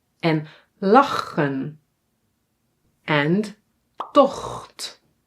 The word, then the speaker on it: tocht: And tocht. Tocht. Yeah? So, here it is pronounced as a g, but in some words